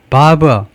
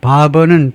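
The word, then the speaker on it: Barbour: 바버 바버 자 바버는 발음을요프 like바이 이발사하고 똑같이 발음을 하라고 나와 있네요.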